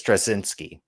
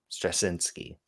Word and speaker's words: Straczynski: I think it's Straczynski. I think that's how you say his name, Straczynski.